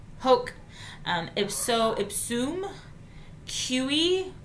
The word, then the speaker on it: hoc: So it's hic hoc, so like coke, hoc, ipso ipsum, kiwi, like a kiwi kind of, but a kiwi, quod, not quad, quod, eum, and illum.